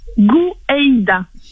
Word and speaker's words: Gouaïda: Alors Karen Gou Eida. D'accord. Ça s'écrit comment votre nom de famille ?